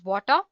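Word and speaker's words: Watir: w a r and it is pronounced as water it's an open- Source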